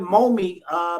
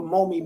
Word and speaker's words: MOME: And so I started MOME Media, which stands for Marcus, Odyssey, Malcolm, and Eli. Those are my 4 children. So that's the acronym for MOME Media. And when it almost sounds like mommy phonetically, and if you say